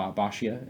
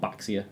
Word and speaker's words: Baxia: to pronounce like B bashia is quite a weird one people think it's called baxia it's not baxia it's bashia Basia and right now we're